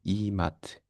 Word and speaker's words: IMAT: IM 시험은 인터널 medical admission test 약자로 줄여서 IAT 혹은 이탈리아 발음으로 이마트 시험이라고도 합니다.이 시험은 현재 총 60문항이 줄제가 되고 90점 만점인 시험입니다.